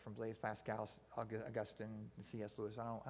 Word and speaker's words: Augustine: that's the big one so so augustin who is like our town's name after but we pronounce his name augustine because we're cool like that um but he said